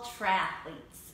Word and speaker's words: triathlete: This is a quick service announcement for all triathletes and those who are supporting them. Triathlete is just three syllables, so there's no need to try to stick a vowel in there.